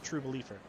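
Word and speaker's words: Trubeleafer: i spell it t-r-u-b-e-l-e-a-f-e-r so basically there's no e in true but just true beliefer oh yeah and beliefers like leaf not believer what can i say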